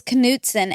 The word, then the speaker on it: Knutson: But it was Knutson, and my mom was like, no, it's that K is silent.